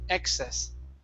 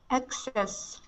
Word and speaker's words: excess: that is ex excess so stress at the very beginning excess excess okay very good and